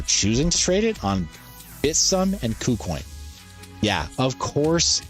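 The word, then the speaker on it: Bithumb: Did you realize that's pronounced Bitsum, even though like with an S? Because it's a Korean exchange, that's how it's pronounced locally. Even though it's spelled in English, locally it's pronounced Bitsum, so that's the technically correct pronunciation.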